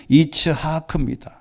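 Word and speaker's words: יצחק: 여기 이삭이라는 말은 이츠하크입니다. 여러분 지금 이스라엘 사람들이나 미국 사람이나 모든 사람들이 우리가 이제 이름을 보면 이츠하크라는 게 있어요. 이츠하크라는 그 성이 있습니다. 이름이. 근데 이거 발음이 본래는 우리가 이제 이삭이라고 하지만 이츠하크입니다.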